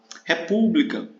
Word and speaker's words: república: República, república o acento é no U. Né? Não é no Ré, isso aqui é a proparoxítona, né?